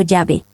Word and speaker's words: Yahvé: En los días de la Biblia, el nombre era pronunciado como Yahvé o Yahvé.